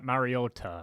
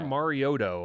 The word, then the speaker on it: Mariota: Yeah, Mariota. Mariota, like yeah, Or Marioto.